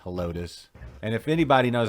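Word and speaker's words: Helotes: i could be wrong i don't think it's hellots no yeah it's hellotus that's what i think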